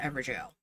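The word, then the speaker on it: Evergaol: And then we'll figure out how to get up to that, that ever jail. It's spelled weird, but it's technically supposed to be the word jail.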